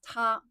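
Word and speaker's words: 他: So like he, she, it all of them is pronounced are pronounced as ta.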